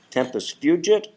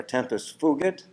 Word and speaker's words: tempus fugit: And I looked it up to see how it's pronounced, and it turns out there are 2 correct pronunciations. Tempus fugit or tempus fugit, which means time flies, right.